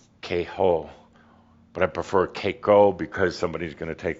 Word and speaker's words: Kaiko: may sound a little familiar the word is Koo also spelled or pronounced kho but I prefer Koo because somebody's going to take the word K